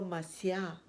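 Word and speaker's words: Mashiach: llegada del mesías no en hebreo es marcial pronunciado mashiah decían los estos estas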